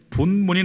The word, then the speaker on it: 분문: 그리고 14절에는 분문이 나옵니다. 분문, 본문이 아니고 분문이에요.